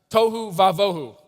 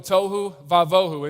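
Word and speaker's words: תֹהוּ וָבֹהוּ: And it's a term that you can actually remember because it rhymes, so it's nice. Tohu vavohu, without form and void. Tohu vavohu.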